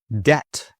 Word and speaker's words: debt: Debt. Debt. If you owe money, you are in debt. Silent B.